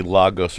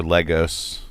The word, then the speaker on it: Lagos: It was a Lagos or Legos. Legos, yeah, Legos. Is it pronounced Legos?